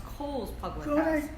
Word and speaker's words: Cole's: you said O'Brien well no you said it wrong it's cold cold I'm cold it's okay